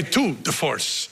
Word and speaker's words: tour de force: We thought that the waterfall was a tour de force. Am I saying it right? Yeah. A tour de force.